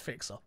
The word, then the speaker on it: Fixer: to say my name properly it's not mc it's just fixer until next time i